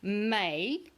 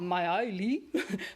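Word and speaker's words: Maille: It's pronounced May, not Maoli, May, because it is French.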